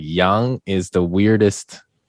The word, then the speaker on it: Yang: pronunciation in mandarin it's young so it's more oh it's more of a u sound yeah it's i actually